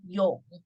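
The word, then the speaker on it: 永: This one means pronounced as yong, means forever. So you can see from the CU script, it is like a river have branches and it's flow forever. This is yong.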